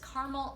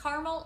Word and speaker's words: caramel: be making our fabulous caramel apple french toast it could be pronounced caramel or caramel different people say at different ways so either one is fine our ingredients today are